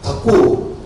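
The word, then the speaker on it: ঠাকুর: His Bengali name is Thakur. So TH is a Mahaprana third.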